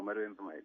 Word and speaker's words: Marwen Dhemayed: Alors, Marouane, est-ce que d'abord je prononce correctement ton nom, Marouane Vmaïd, c'est ça? Exactement, Marouane Vmaïd, oui.